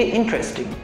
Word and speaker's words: interesting: বাট এখানে যে আমরা ইন্টারেস্টিং উচ্চারণ করছি এই ইন্টারেস্টিং উচ্চারণটাই ভুল, ইটস নট ইন্টারেস্টিং। এখানে টাইয়ের উচ্চারণটা হবে না, সিম্পলি ইন্টারেস্টিং।